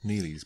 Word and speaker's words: Neely's: Nelly's bar. Neely's bar. I guess. You guess it's Neely's bar by the way it's spelt, huh?